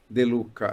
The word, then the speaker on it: De Lucca: De Luca? De Luca. Tem É um truque, espanhol? né? É italiano. No italiano tem a doppia, que é a dobra de consoantes.